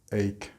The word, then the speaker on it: ache: Notice the pronunciation of ache.